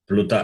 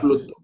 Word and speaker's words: pluta: So they are called pluta. Pluto. Pluto is not Pluto. Pluta.